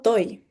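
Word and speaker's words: τῷ: Entonces este artículo se hubiera pronunciado toy, pero a medida que ha ido avanzando la lengua, esta yota se ha quedado suscrita y eso ya no se pronuncia.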